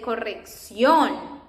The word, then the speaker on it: corrección: That accent is an emphasis we do in the pronunciation of a word. For example, here that we say corrección, corrección. And it's because of this accent that we put that accent there, corrección.